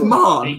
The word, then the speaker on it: Mahon: Like, I know a Ryan Mahon, and it's Mahon, it's Mahon. So M-A-H-O-N is pronounced Mahon.